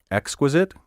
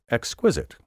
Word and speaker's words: exquisite: And last but not least, do you say exquisite or exquisite? In every case, my first pronunciation of each word was the proper one.